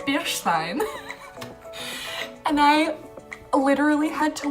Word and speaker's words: stein: the lady because I'm sorry but it's actually pronounced beer Steen and she goes a what who don't do